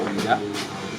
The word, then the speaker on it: Ouidah: Et le fait de prononcer Ouida, les Portugais ont dit Juda, les Anglais Wapida, les Hollandais, les Danois Ouda, mais les Français ont dit Ouida.